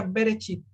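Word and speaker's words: בְּרֵאשִׁית: llama be be rachid podríamos decir que se pronuncia bereshit verichip entonces es fundamental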